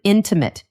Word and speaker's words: intimate: Where's the stress? Intimate. The stress is on the first part.